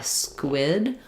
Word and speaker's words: squid: So basically um you could build this um you can either just try squid or you could build it from the W. So trying wid quid squid.